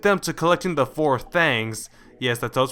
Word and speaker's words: Thangs: tests will lead them to collecting the four thangs yes that's pronounced and once all four of them are